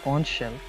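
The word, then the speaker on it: xonsh: And by the way, that's pronounced conch shell, is fundamentally different from a standard Python wrapper.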